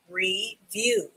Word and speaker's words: review: Re, V has the V sound. U, review. The I and the E in this word both have the E sound. So that's why we just say E once. And the W has the W sound.